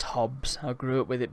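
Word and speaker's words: Hobbes: To make a Calvin and Hobbies joke. Yes, I know it's pronounced Hobbs.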